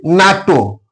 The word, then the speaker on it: NATO: isro an ISRO member I isro member similarly NATO North Atlantic Treaty Organization NATO it will not pronounced like n a t o it is